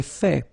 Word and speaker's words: fait: J'ai fait. So remember, final T is not pronounced.